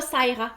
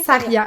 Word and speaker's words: Sarya: Et non, c'est pas Saira. Parce que il y en a qui disent des fois, là, je me fais déformer ça, écoutez, il y a beaucoup de prononciations différentes. Mais c'est bien Saria, ok, parfait.